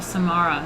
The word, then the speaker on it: Samarra: are we at we got the samara the samara is how you say it all right i